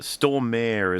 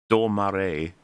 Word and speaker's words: Stormare: And it is Peter Stormare is what I've always called him, but I have been told, and it is true, that is not how you pronounce his name. It is Stormare.